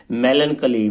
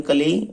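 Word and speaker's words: melancholy: तो साइलेंट रहता है मेलन कली मेलन कली उदासी मेलन कली का मतलब क्या होता है उदासी देखो कली ये सी एच ओ एल वाई बोला जाता है कली अब हम याद रख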